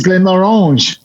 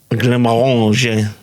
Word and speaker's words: Glenmorangie: Glenmorangie. Oh gosh. We are owned by the French, so it's Glenmorangie. Glenmorangie.